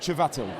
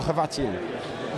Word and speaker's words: Chvatil: I'll tell you now, it's not Ch. It's not Chvatil. Right. Okay, I can tell you that. The C is pretty much silent. It's more Chvatil.